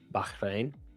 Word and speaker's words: Bahrain: I mean it says current but uh how do you pronounce it again? Bahrain. Bahrain.